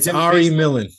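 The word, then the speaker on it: Ari Millen: Bob his name's Arie something and he said Ari Millan thank you I couldn't pronounce it Ari Millan and he says the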